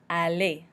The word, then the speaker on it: aller: Aller. So we do not pronounce the R, we pronounce it like it's an E with an accent aigu. Aller.